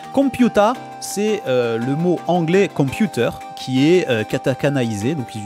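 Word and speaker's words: コンピューター: Vous voyez, il y a un petit trait juste après. Je peux vous le mettre en avant. Voilà, on a ce petit trait là, juste là. C'est pour allonger la syllabe, pour avoir 2 temps de lecture sur le son pew et ta.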